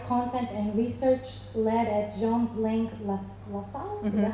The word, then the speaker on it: Jones Lang LaSalle: She's a former teacher at the University of Texas and Western Washington University, and corporate DEI content and research led at Jones Lang LaSalle?